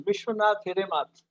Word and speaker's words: Vishwanath Hiremath: So, his name is our gentleman is Vishwanath Hiremath. Am I right? Have I pronounced you correctly?